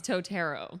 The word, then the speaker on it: Totaro: It's Totaro. Totaro. Yes, like actually, the like tarot cards.